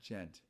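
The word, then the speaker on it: djent: Pronounced gent. Basically a sub. Well, okay. I love all sorts of metal. Like I love speed metal and thrash and all that. Yeah. But gent.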